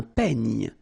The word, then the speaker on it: peigne: Then un peigne. Final E, you don't insist on it. It's ny, the last sound.